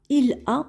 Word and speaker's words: il a: Il a, on ne va pas prononcer de cette façon parce qu'on doit faire la liaison, c'est-à-dire qu'on relie la consonne L avec la voyelle A. Et on dit il a.